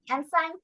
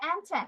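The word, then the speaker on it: ancient: সি আই ই এন টিন এনসাইন এনসাইন এনসাইন এনসাইন না আচ্ছা pronunciation হবে এনসেন্ট পুরাতন মিসের কথা শোনো মিসের কথা শোনো হুম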